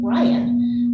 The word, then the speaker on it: Ryan: like a human sneeze the other's name was ryan which as it happened was pronounced more or less like we say on earth the point is achoo